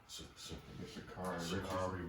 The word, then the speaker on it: Sha'Carri: How do you pronounce her name? Sha'Carri Richardson, Miss Richardson, and her performance.